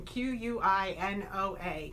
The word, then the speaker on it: quinoa: wonder what is that it looks like it's spelled Qin OA and I know that's backwards on your screen qu i n o a quinoa is how it's pronounced again this is another